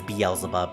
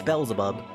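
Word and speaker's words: Beelzebub: Yeah, that's that's a reason why I pronounce it as Beelub. But no, apparently it's Belleub.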